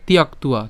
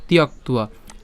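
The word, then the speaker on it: ত্যক্ত্বা: তিয়াক্তুয়া, তিয়াক্তুয়া। তাহলে এখানে ক আর ত একসাথে উচ্চারণ করলাম তিয়াক্ত, তিয়াক্ত, আর কি থাকে?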